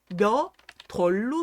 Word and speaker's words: 몇 월: 이게 몇이 디귿으로 바뀐 다음에 월하고 합쳐지는 거예요, 소리가. 그러니까 당연히 소리가 어떻게 나야 돼요? 몇 덜로 소리가 나야 됩니다.